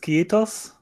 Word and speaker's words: kiitos: Is it kiitos? My pronunciation is going to be rubbish, but...